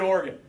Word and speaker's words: Oregon: going to be heading particularly to Oregon and that's how it's pronounced okay farmers who are